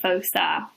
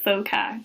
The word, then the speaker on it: foci: the focus, or the foci, or the foci, depending on how you pronounce it.